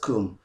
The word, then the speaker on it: cwm: you know on google you understand so it's pronounced kum this is just by the way i just